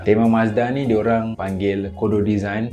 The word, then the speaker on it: Mazda: Seterusnya kita ada Mazda, ataupun dia punya pronunciation yang betul adalah Matsuda. Tema Mazda ni diorang panggil Kodo Design, maksud dia Soul of Motion.